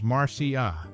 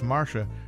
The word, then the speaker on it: Marcia: pronounced her name as Marcia While most Americans referred to her as Marsha her co-star Eva Longoria adopted the British pronunciation adding a unique touch